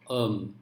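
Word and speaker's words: homme: french for man is um look at the spelling h-o-m-m-e now in this word the first letter h is silent so therefore what happens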